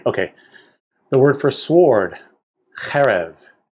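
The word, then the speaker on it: חֶרֶב: The word for sword, cherev. It has an accent on the first syllable, and it's a two-syllable word.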